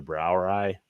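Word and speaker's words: Brauerei: off is kind of the brow eye on the beers is BR b r a u e r EU I think EI but it's brow ey is how it's pronounced which is basically for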